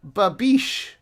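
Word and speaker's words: babiche: Well, we're going to watch a clip of Babish.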